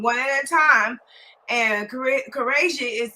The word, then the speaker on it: Quraishi: Okay, so we're trying to get our host Quraishi. Is that how we pronounce his name? Quraishi, Qureshi. Mr. Okay, Quraishi, yes, so ma'am. Qureshi.